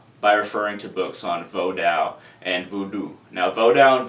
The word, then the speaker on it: Vodou: lot about it, but Vodou it's pronounced Vodou, V-O-H-D-O-O, Vodou. But I say Vodou because I'm an English speaker and living in the United States.